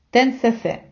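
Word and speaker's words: 10cc: б трошки зупинитися і навчити вас як вимовляти іспанською назви деяких музикальних гуртів які ми вимовляємо на англійський лад а от іспанці читають їх і ю а саме у дош асе десе тенсесе це вам на згадку про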